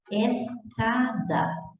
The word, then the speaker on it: escada: Na escada, eu tenho encontro consonantal porque eu pronunciei o S e eu pronunciei o C. Escada. Se eu não tivesse pronunciado o S, eu ia falar escada. Então, está lógico aí que eu pronunciei.